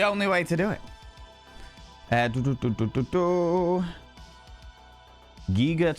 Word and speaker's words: Giger: Giger to rhyme with eager.